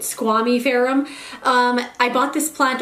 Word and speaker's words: squamiferum: my philodendron squamy ferum i've also heard someone pronounce it squamifurum before and i don't like that i like it squamy pherom um i bought this